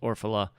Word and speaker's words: Orfalea: Orfalea, even though it's pronounced Orfala.